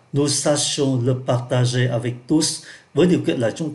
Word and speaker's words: tous: à condition que nous sachions de partager avec tous. Đấy, chúng ta lại gặp đại từ nữa và chúng ta phát âm là tous.